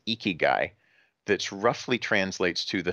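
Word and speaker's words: 生き甲斐: have a word that I believe is pronounced eeky guy that's roughly translates to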